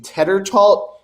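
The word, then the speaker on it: Tetreault: Teddertalt.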